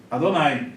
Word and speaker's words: Adonai: aqui tá com as vogais adonay Então se pronuncia Adonai O Judeu Vale alô vai tá eu botei